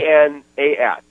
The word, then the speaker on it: Anas: A-N-A-S. Okay. You can pronounce that any way you want right.